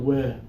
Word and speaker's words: whip: okay carella your turn open up breathe out whip that sounds really good